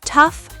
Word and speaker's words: tough: For gh as f. Laugh. Tough. Rough enough. Cuff. For silent gh, though, through thought, daughter, night, high.